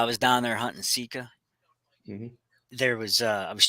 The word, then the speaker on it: Sika: down in Maryland hunting Sika seek seika it's pronounced seaa de while I was down there hunting seea there was uh I was checking some Facebook